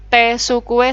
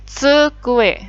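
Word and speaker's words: つくえ: Meja itu bahasa Jepangnya sukue, hati-hati ya bacanya digabung ini. Sukue. Sukue bukan tesukue salah ya, tapi tsukue.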